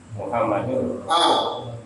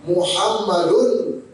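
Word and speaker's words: مُحَمَّدٌ: Muhammad ini dibaca gimana? Muhammadun. Muhammadun. Ada tanwin kan? Ada nun kan? Muhammadun. Nunnya sukun nggak? Sukun. Benar kan? Ditulis nggak? Enggak, tapi diucapkan.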